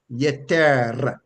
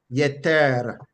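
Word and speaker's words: יֶתֶר: And that root word is pronounced yeter, yeter, yeter, right? Yeter, yeter. Remember, when you see the double up of a letter, it just shows that there should be an emphasis on that letter.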